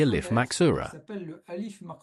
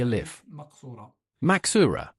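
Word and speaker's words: ألف مقصورة: what we call the al if maxura. So it's pronounced exactly like an al if that is it's a long vowel. Let's say aa.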